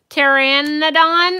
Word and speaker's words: Pteranodon: Yeah, it's got a silent T or P. I just don't know how to say the rest of the word. Pteranodon, I guess.